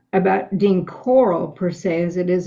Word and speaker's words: Corll: How do you pronounce his last name? Dean Corll. Corll.